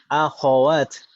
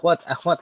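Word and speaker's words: أَخَوَات: Akhawat itu kita membacanya kho-nya jangan disukun tapi fathah. Kalau ikhwah dan ikhwan kho-nya sukun, tapi kalau ukhtun akhawatun kho-nya fathah. Kalau di kita kan bilangnya akhwat gitu kan Ibu ya.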